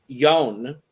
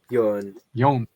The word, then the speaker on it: Jone: that order, which means we are starting with Jone, I believe is how you say the name. I think we finally learned it. Jone.